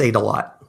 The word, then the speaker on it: Adelot: Adelot on, or 80, is it Adelot? How you pronounce it? I see James tweets all the time. What is it, Rick? It's ate a lot. Ate a lot. Okay. Ate a lot.